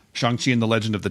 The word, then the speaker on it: Shang-Chi: Is it Shang-Chi? Is that what it's pronounced? Yeah, that's correct. Shang-Chi and the Legend of the Ten Rings.